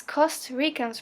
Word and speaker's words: Costa Rica: Or, as Costa Ricans pronounce it, it's Costa Rica. Yeah, because it's a different R. It's not American, it's not Latin American, it's Costa Rican R.